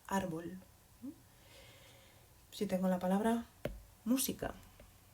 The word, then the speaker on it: árbol: Cuando yo veo una palabra, aquí esta palabra termina en L, es decir, debería pronunciarse árbol, debería pronunciarse en la última sílaba, en la primera que he llamado. ¿Es así? No. ¿Y cómo lo sé? Pues porque esta palabra tiene una marca y esto hace que yo puedo saber que esta palabra se pronuncia árbol.